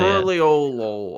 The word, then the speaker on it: Tuliyollal: I like Tuliyollal, I think is how they say it. Tuliyollal.